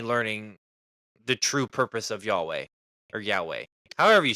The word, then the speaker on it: Yahweh: So yeah, you could consider that me learning the true purpose of Yahweh or Yahweh. However you say. How do you actually pronounce it? Yahweh. Yahweh? Yahweh.